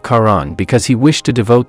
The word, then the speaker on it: Charon: sticks River River however he mispronounced it as shahon instead of Karan because he wished to